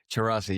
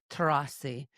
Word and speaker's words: Tcherassi: Tcherassi, yes, that's right. Tcherassi.